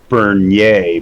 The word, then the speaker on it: Bernier: bossier just like uh my name is is bernier but everybody just pronounces it burnier and i got i